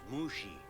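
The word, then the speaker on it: Mushi: uh mushy is it it's pronounced mushy you telling me how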